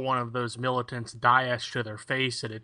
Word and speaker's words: Daesh: Daesh, if you go to any of the Middle Eastern... Oh, that's how to pronounce it, okay.